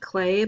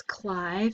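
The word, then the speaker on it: Klay: let's try phil cly i know it looks like clay but it's cly phil cly and um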